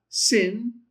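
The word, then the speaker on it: שׂין: If the dot's on the left, sin, which is the same pronunciation, by the way, as the Samek.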